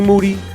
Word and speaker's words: Moody: white folks I'm here with the champ Jean Monnet e-g moody last name rhymes with duty that's the show three-time